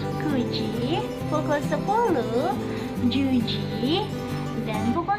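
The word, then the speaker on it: 九時: Perhatikan pukul 7 dan 4, dan karena bacaannya berbeda dengan angka biasa, pukul 4 yoji bukan yonji. Pukul 7 shichi bukan nanaji. Pukul 9 kuji bukan kyuji.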